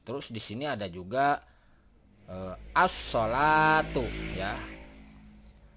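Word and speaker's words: الصلاة: assolatu ya ya hai nah alif ram-nya alifnya dibaca lainnya tidak dibaca jadi asnah yang di jadi alif ini map lam ini tidak dibaca yang dibaca adalah ini langsung jadi ini dilewati ya para bapak dan ibu kakak di semua untuk lemnya dilewati jadi assolatu nah ini disebut sebagai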